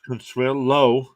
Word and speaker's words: Consuelo: so hello says hey my name is pronounced Consuelo like JLo uh very good you